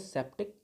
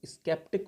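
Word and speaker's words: sceptic: इसको हम लोग बोलते हैं सेप्टिक। स्केप्टिक मत बोलना, इसका प्रोनाउंसिएशन सेप्टिक ही होता है।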